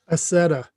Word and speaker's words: Accetta: loud how do you say your last name assetta macleod allen mcleod nick pupo andreas zalenzi uh